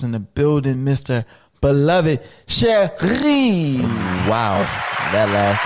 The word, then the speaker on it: Chery: Chery. Oh, stop it. It's Get Haitian. some R's in there. Hey, you gotta say it like that because it's Haitian.